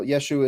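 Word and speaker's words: ישו: Yeah, like in Nazareth, they wouldn't pronounce it Yeshua, at least according to what I've studied. In Nazareth, they would say Yeshu. That was how they pronounced Yeshua, but it's the same name.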